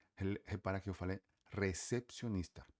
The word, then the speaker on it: recepcionista: E o recepcionista, repara que eu falei recepcionista, porque toda palavra em espanhol que comece com R precisa ser forte e vibrante. Então você fala recepcionista, recepcionist.